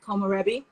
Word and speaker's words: komorebi: How do we spell that? It's K-O-M, O-R-E-B-I, Komorebi.